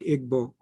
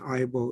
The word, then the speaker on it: Igbo: So I also used Ibo until I learned that Igbo is the original pronunciation and Ibo is the anglicized version of it.